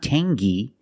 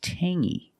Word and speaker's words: tangy: or this word Tangy we have the same sound it's the nasal sound only Tangy Tangy it's not Tangy it's Tangy Tangy is a flavor